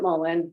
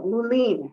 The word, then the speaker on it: mullein: it by different names i pronounce it mullen most of the people i've encountered pronounce it that way however i will say one person asked me do you have any movement or no muleen she pronounced it and it took me